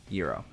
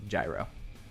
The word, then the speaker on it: gyro: like the Greek meat, euro. But if you're talking about gyro, like gyroscope, it is pronounced gyro.